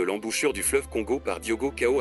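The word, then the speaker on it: Diogo Cão: 1482 par le portugais Diogo Koo d'autres le prononcent Diego cam peut-être une francisation de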